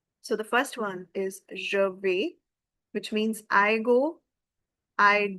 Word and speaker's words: vais: And if I just talk about the pronunciation, je vais, we have already read that a i s and a i gives you the sound of simple English of a, je vais.